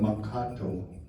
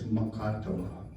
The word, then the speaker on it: Makato: the they call it matato in English they turn translated to man huh in Dakota it's makato that's the right way to say that but in 1862 there was